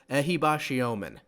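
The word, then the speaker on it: Ehibhatiomhan: to get it right apparently it's pronounced ahibashiomen Kelvin ahibashiomen is our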